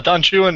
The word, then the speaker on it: Don Juan: it anyway so no Don Chuan is what by called him that's everything everything in the whole poem rhymes with jwan it's really awkward if